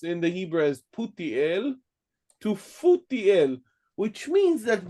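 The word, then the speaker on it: פוטיאל: They were transcribing a Hebrew name that we pronounce in the Hebrew as Putiel to Futiel, which means that both the sounds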